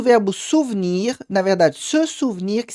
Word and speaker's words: souvenir: Só essa pronúncia um pouquinho diferente, onde o e no meio não é pronunciado, souvenir.